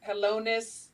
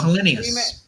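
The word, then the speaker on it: Helenius: I can't even pronounce the last name. Helonis and Kawanki. Oh, Hellenius.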